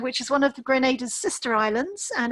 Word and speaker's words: Grenada: The first A is a long vowel. So it is pronounced Grenada and not Grenada. So hoping you guys will remember that and keep pushing and saying Grenada.